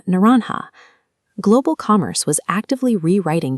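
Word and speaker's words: naranja: As early European languages absorbed this foreign commodity, they initially preserved that starting N sound. In Spain, for example, it became naranha.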